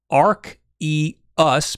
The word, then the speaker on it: Arceus: bits technically it's pronounced ark e us because in the uk it sounds too close to arse okay that actually makes